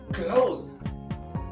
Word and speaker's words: clothes: So, c l o t h e s we say close.